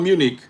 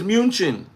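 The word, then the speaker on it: München: It's not Munich. Munich is English. Min is Deutsch. Okay. Okay. So, it's munchin.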